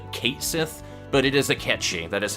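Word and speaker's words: Cait Sith: name is spelled kate sith but it is a catchy that is how that is actually pronounced in um iris mythology but even though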